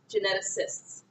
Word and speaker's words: geneticists: difficult thing to say because this is a soft C sound kind of sounds like an S geneticist geneticists they're the folks that